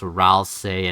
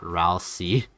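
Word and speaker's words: Ralsei: Uh a guy once ended his Deltaran stream because I told him that Ralci is pronounced Ralce and not Ralci.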